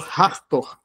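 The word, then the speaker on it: Hathor: E tinha um deus ator ou hartor, se a pronúncia for anglófona, que era uma deusa vaca, né?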